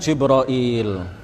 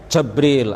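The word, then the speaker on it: جبريل: Jibril Alaihissalam kisah juga kita mengatakan jibroil ya bisa juga kita mengatakan jabril atau Jibril atau jibroil atau ada ada juga Lughah yang lain ya bisa juga disebut dengan beberapa pelafalan yang lain dan itu semuanya benar secara bahasa tetapi yang paling terkenal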